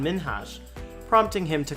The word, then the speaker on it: Minhaj: seconds into the interview she pronounced it as hassan minaj rather than hassan minhas prompting him to correct